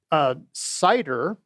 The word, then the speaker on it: CIDER: dark on dark, but Cider, which stands for the Closure Interactive Environment, that rocks. The T is silent.